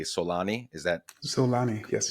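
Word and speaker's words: Xolani: Henry to and forgive me if I'm not pronouncing this correctly Solani. Is that Solani? Yes. Solani.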